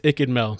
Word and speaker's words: iCkEdMeL: can't pronounce anybody's name it's itchin mel but you could call me mel or that works too uh taurus